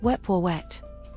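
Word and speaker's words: Wepwawet: His name is pronounced Weepoet.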